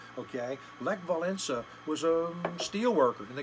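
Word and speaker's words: Wałęsa: of Lakeville essa okay it's actually pronounced with an N valensa okay leg valensa was a steelworker and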